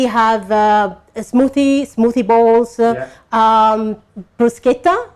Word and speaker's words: bruschetta: a smoothie smoothie bowls bruschetta if you're Italian a bruschetta is the right way of pronounce it is bruschetta with different type of